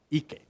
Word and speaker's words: Ike: In Hawaiian, you don't pronounce like Ike in English. No, you pronounce as it's written. Ike.